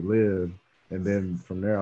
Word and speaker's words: Livv: know i can just kind of i can live you know and then uh i was like yeah like that's i like that like live and then from there i was like bro